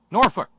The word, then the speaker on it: Norfolk: a little cultural help here's how they keep the pronunciation straight they're in that town with the Norfolk high school cheer we don't smoke we don't drink Norfolk you missed your calling